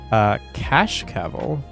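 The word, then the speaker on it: кашкавал: In Bulgaria, we call it Kashkaval. It's pronounced literally how it's spelled. So, did I say that right? Kashkaval?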